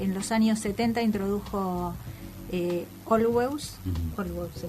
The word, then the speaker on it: Olweus: Es un término que en los años 70 introdujo Olweus se pronuncia así, ¿no?